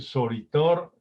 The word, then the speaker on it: Soritor: su auditorio es decir decimos sol y la última sílaba thor es fuerte contundente y hasta parece triturador es el cierre de la palabra que afirma y confirma lo dicho de las sílabas anteriores no podemos decir soritor